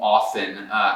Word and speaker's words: often: Vamos fazer um exemplo com often.